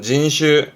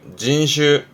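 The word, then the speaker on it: 人種: 인종 발음은 진슈 진슈 앞에 했던 거 특종이 되겠는데 뜻은 특별한 종류예요.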